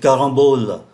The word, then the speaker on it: carambole: Une carambole, un carambolier. Ở đây chúng ta cũng để ý tới cách phát âm của ký tự M. Caron phát âm là N bởi vì đứng trước ký tự B.